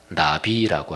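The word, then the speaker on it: נביא: 중에 가장 대표적인 단어가 나비라고 하는 단어예요. 뭐 날아다니는 나비 그냥 발음이 똑같아요. 근데 그 나비란 말을 가장 적절하게 번역하면 대언자 이렇게 번역하면 제일 적절합니다.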